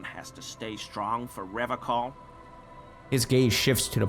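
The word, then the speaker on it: Revachol: The Seren way. The fine way. With an elegant s.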